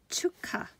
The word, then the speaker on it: 축하: of Chuck ha because it's pronounced with K sound chuka chuka it's pronounced s chuka